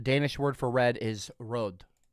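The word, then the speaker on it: rød: See here, the Danish word for red is rod, pronounced some uh somewhat like r with a soft almost silent d.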